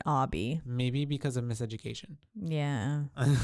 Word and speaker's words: Obi: name he does look like spelled Obie Obie yeah right that's why I was like Obie but it's Obby but he pronounced it Obby maybe because of miseducation